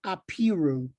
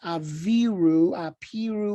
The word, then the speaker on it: Apiru: They were called Apiru. Also known as Aviru, Aviru. You can hear the similar pronunciation of the V and the P.